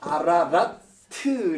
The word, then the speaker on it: 아라라트: 저주 받으면은 산이 저주를 먹다가 요렇게 뱀이 하나 들어서 그 아라라트 이렇게 발음이에요.